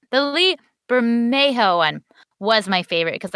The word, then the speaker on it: Lee Bermejo: i think i have to decide that the lee vermeo i know how to say his name the lee bermejo one was my favorite because i love the